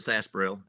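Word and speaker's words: sarsaparilla: Good job, Sarsparella. Yes. All right. We We pronounce it Sasparel.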